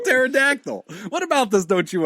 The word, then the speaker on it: pterodactyl: P Al together yeah the p is silent you dummy like in pterodactyl what about this don't